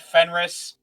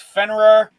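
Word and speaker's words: Fenrir: When I will I will forever just get mad at Fenrris. It's Fener. It's not Fenrris.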